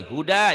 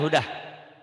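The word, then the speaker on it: هدى: Huda, jangan hudah. Wazidnahum huda. Bagus, hebat. Ya, bayangkan ujungnya ada k-nya ya, seakan-akan. Tapi jangan juga dibaca hudak ya, k-nya.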